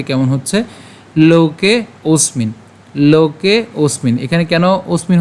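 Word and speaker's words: লোকেঽস্মিন্: একদমই সহজ আমরা এট প্রথম থেকে খেয়াল করি উচ্চারণটি কেমন হচ্ছে লোকে ওসমিন লোকে ওসমিন এখানে কেন ওসমিন হচ্ছে এখানে যে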